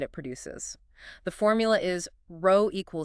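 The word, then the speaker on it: rho: let's start with resistivity denoted by the Greek letter row pronounced row resistivity is essentially a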